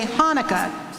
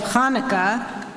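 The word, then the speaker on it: Hanukkah: Malu on page 243 some people have difficulty pronouncing their H sound the gutural is found in Hebrew Yiddish German and Spanish but not in English many Jews and non-jews say Hanukah instead of Hanukah or Hala instead of Hala this mis pronouncement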